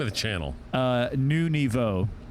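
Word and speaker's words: Nouveau: the channel uh new nevo how do you spell that new like new w and then nevo is niv e-a-u okay it means new level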